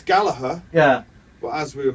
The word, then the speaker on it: Gallagher: Well, it's Gallagher, Yeah. but as we were Mancunians, Mancunians always pronounce the hard G. RG. Okay. Yeah, so it's Gallagher.